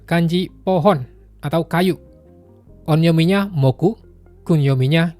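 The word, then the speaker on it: 木: Onyominya moku, kunyominya ki.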